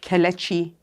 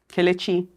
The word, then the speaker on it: Kelechi: My name is pronounced Kelechi, so there's a E, Kelechi, and it means thank God.